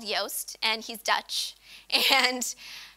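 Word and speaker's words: Joost: by a person called Yoast and he's Dutch and his name is spelled I think Jo OST but people kept saying it juste even though Dutch people the J is why so that's why he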